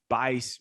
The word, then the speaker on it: Buice: It's Bice with a B, UICE. It's pronounced, it's spelled like juice, but it's got a B in front.